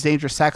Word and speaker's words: Danger Sack: I wasn't sure what that was, but it is Danger Sack, so I've been saying it correctly this whole time.